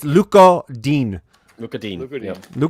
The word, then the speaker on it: Lucas Digne: And I'm going to stop saying Lucas Digne. We spent a lot of time looking into how to say his name. It's Luca Dean.